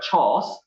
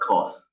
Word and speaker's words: chores: Okay, it is supposed to be pronounced as housewife chores, not cause.